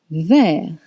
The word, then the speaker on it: vert: Rouge, rouge, red, rouge, rouge, red, vert, vert, green, vert. Vert is spelled V-E-R-T, and vert becomes verte if the subject is feminine.